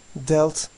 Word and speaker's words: dealt: Deal, dealt, dealt. Sanki burada A harfi yokmuş gibi düşünün.